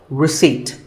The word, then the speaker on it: receipt: in word number 24 receipt the p is silent when you purchase something